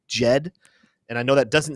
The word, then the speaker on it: Djed: right there there like you just heavily start the J off sound with the D so it's Jed and I know that